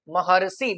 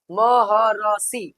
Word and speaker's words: महर्षि: कैसे लिखेंगे महर्षि ऐसे महर्षि बीच में ही र का उच्चारण होगा दिया हुआ है बाद में लेकिन उच्चारण क्या होगा पहले ही होगा वर्ण के पहले ही होगा महर्षि है ना उच्चारण कर